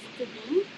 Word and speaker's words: Tedim: actually it's pronounced Tedim, but go ahead and say it the way Ah, you want to say it.